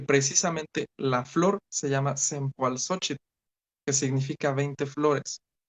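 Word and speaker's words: Cempoalxóchitl: A la llegada de los españoles, lógicamente muchas palabras de origen náhuatl, pues no lo pronunciaban como era y pues no les importó y le cambiaron Cempasúchil.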